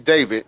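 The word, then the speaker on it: D4vd: David, his name is David. It's spelled D, the number four, and then V I D.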